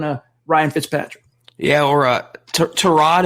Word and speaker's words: Tyrod: Yeah, or Tyrod, is that how you say his name? I always call him Tyrod. So it's Tyrod, apparently.